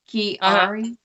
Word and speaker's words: Chiari: right uh was it cherry yes cherry mouth formation it's called key like a dorky kiari there's what the symptoms